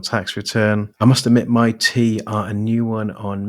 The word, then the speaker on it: MyT: Welcome on board, MyT. I'm pronouncing it like that rather than MYT because that's how it looks like it's been laid out in its branding.